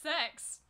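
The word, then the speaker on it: CeX: I've always called it Kex, but apparently they found out it's called Sex. Yeah. It's spelled C-E-X, but hey.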